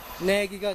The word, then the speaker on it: knaggy: 또 하나는 그 앞에 K를 붙여서 K는 묵음이 되죠. K-N-A-G-G-Y 해서 내기가 됩니다. 내기.